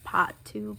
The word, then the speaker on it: Paht: the Mikayla x Glamlite Part 2 collection. It's actually pronounced Pot 2, but I'm not from the north, so I can't really say that.